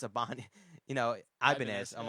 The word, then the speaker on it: Ibanez: It's Ibanez. Ibanez. Ibanez, I'm yeah. like, all right. Dude, I don't know. For me, pronouncing some things, dude, my brain just, it comes out and it just goes off.